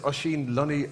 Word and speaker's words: Oisin Lunny: If we haven't met already, my name is Oisin Lunny, O-I-S-I-N-L-U-N-N-Y. It's an old Irish name, so it's spelled completely differently to how it's pronounced, like all good Irish names.